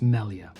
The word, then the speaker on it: Malia: I think it's pronounced Melia signature model Jackson guitar.